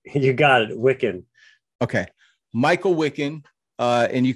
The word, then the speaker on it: Wikan: You got it, Wikan.